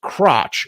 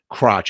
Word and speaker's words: Crouch: in her yard uh crouch crouch crotch no I guess Crouch actually I was pronouncing that wrong I wanted to say Crouch it looks like Crouch it's actually Crouch that's how you say her name a Mrs Crouch who